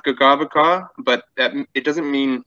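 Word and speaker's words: Kakabeka: got a road named, it's Kakabika is how it's spelled, and there's also Kakabika Provincial Parkway up north. It should be pronounced Gagavaka, but that, it doesn't mean waterfalls, but it's kind of about stepped falls.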